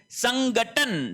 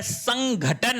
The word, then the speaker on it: संघटन: फिर देखिए संगठन। संगठन नहीं होता है। संघटन होता है।